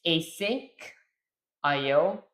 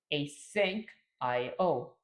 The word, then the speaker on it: asyncio: It's async io and IO is pronounced separately.